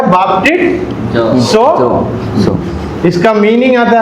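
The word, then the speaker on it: βαπτίζω: ये एक वर्ब है, क्रिया है, और इसका प्रोनाउंसिएशन ऐसा आता है बाप्टिसो।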